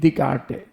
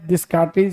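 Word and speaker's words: Descartes: उसके बाद सी ए आर ई ई रेनी दिकारटे इसको पढ़ते हैं दिसटे नहीं पढ़ते हैं रेनी दिकटे पढ़ते हैं अब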